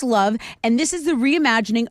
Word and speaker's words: LOVB: That's LOVB, pronounced love.